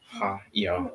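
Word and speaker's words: היא: Well, Ha, ya, ah. Haya. Correct. So with this word, each letter is pronounced separately.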